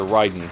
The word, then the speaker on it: Raiden: top down shooter very similar to Ryden or Raiden if you prefer that pronunciation in fact the similarities